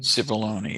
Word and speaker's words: Cipollone: Cipollone, is that how it's pronounced? Pat Cipollone, the White House Cipollone. Cipollone. Cipollone, yeah.